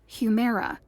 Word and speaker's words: Humira: to pronounce something that looked like humira but was pronounced humera as i created the